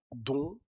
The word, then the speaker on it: dont: Pero este es don sin pronunciar la T.